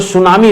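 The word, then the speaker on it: tsunami: ठीक है, लेकिन ये टी दोस्तों हम लोग बोलते नहीं है, साइलेंट होता है, तो सुनामी इसको पढ़ा जाता है।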